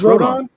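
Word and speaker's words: Rodón: the no hitter the other day is it rodon it is rodon yeah carlos rodon i mean you don't know how to pronounce his name really michael who's the yankee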